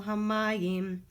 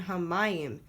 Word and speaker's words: hamayim: Sim Shalom gives you this great indicator of which syllable is accented, haaretz and hamayim. Make sure that when you're chanting, you're accenting those syllables. They're there because a lot of people make the mistake of accenting the last syllable in those words instead.